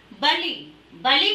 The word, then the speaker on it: बली: जो नंबर 3 है बलि-बलि थर्ड बलिदान बलि भी उच्चारण अंतर हो जाता है लोधी सिर्फ छोटे की मात्रा यहां पर लांच बड़ी की मात्रा है इसे पढेंगे बली और यह है वरली-वरली